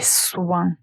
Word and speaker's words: soin: Donc, tout d'abord, nous avons le mot soin, les soins. Faites attention à la prononciation, nous avons ce son comme moi, toi. Ici, nous avons aussi la la partie nasale, ouin, soin.